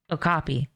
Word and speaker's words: okapi: like oki. I think that's how you say it. Hold on. Let me Google it. Okopy. Okapi.